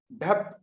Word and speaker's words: DHAP: ढप, क्या बोलोगे आप?